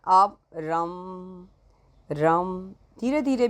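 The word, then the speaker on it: रं: तो आप जब इसकी साधना करें तो इसका उच्चारण आप रम रम धीरे-धीरे भी कर सकते हैं और बहुत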